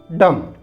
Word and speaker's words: dumb: इन the same way here also be silent so it will be डम डम इट इज थम थम